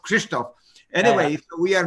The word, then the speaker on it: Krzysztof: to make it hard on you, which is pronounced Krzysztof.